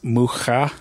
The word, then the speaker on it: Mucha: um yeah you know I used to say ha but he's not Hispanic he's check and so looking doing some further research into that it is pronounced whoo ha ha ha yeah